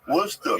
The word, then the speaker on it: Worcester: a steak sauce oh Worcester Worster yeah yeah look weird I